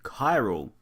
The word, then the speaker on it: Chiral: this video looking at chi roll or Tyrell actually I should probably look this up I'll be right back greetings fellow mic addicts and welcome to chiral the H is silent this is a puzzle